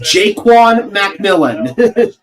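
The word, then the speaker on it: Ja'Quan McMillian: It is pronounced Jaquan McMillan.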